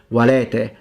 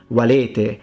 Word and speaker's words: valete: You can open them. So, valete, salvete. Now, if you notice, that's not how I pronounce them. I closed them. So I went into valete, salvete.